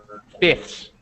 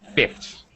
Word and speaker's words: fifths: reduce the pronunciation um so fifths just becomes I just get rid of F fifths fifths and and we don't really pronounce it fully okay this is very